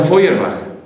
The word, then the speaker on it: Feuerbach: o sea, Ludwig Feuerbach, que se escribe feuer, feuerbach y se pronuncia Fuerbach.